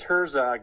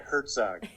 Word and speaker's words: Herzog: And it's Herzog, not Herzog.